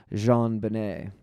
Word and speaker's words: JonBenet: John Bennett Ramsey and her name is pronounced in a French style Jean Benet she went the file